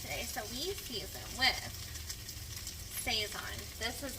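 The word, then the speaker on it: Sazón: me that seasoning, and she's always called it Sazon. And I was talking to somebody that really likes to cook one time, and he was like, it's actually, he's Hispanic, and he was like, it's actually pronounced Sazon.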